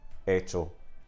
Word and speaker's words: hecho: But that is why we have these silent H's written in Spanish in words like hablar, hecho, hacer, okay?